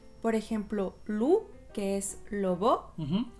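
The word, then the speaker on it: loup: Por ejemplo, lu, que es lobo, o ku, que es un golpe.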